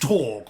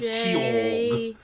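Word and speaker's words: Tjorg: Oh, well, apparently the J is supposed to be silent and it's just Torg. But I've always liked to say it as Tiorg.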